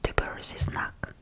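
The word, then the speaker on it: твёрдый знак: The name of this alphabet is a bit special, and name of this alphabet is Dubersisnak, Dubersisnak, which means hard sign, and this letter doesn't have its own sound when pronounced by itself.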